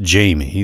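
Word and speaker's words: Jaime: I should let you know that, although his name is pronounced Jamie, the I is and always has been intended to precede the M, despite how many times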